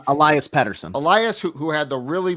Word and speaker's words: Pettersson: I believe it's Elias Pettersson.